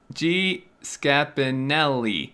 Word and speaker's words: Scapinelli: Okay, is the G pronounced G or just as a J sound? G. Okay, sweet. Well, then I got it right the second time.